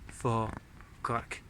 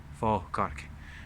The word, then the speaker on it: Falkirk: it came to fa, they added this L that should never really be there.